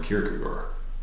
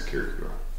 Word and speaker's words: Kierkegaard: the name of Soren Kierkegaard. Right. Actually, his name is spelled and pronounced more like Shecha, but we don't do that. It's Kierkegaard, as far as I'm concerned.